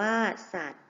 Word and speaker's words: สัตว์: อ่าน ว่า กฎ เกณฑ์ สัตว์ มี วอแหวน การันต์ อ่าน ว่า สัตว์ อาตี มี ยอ ยักษ์